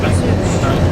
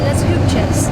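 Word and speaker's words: Les Houches: I don't understand why it's pronounced Les Ouches. Don't even question the French pronunciation on things. When I was reading the bus timetable, I was like, Les Hooches.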